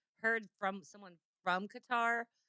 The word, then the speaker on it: Qatar: Um, how do you pronounce Q A T A R Qatar? There's such a controversy over people pronouncing it cutter.